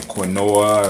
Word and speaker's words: Quinoa: Is known as quinoa, spelled Quinoa, right? A lot of y'all might be saying quinoa or whatever, but it's pronounced quinoa, right?